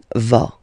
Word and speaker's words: vas: Okay, tu vas. Same thing here, final S not pronounced.